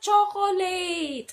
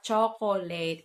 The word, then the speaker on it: chocolate: Ah, gusto ko ng chocolate! Okay, hindi daw siya chocolate. It's chocolate. Chocolate. Chocolate. Hindi siya chocolate. Hindi daw late. Lit. Chocolate. Last mispronounced common word sa video na to ay ito yung ginagamit nating panghalo.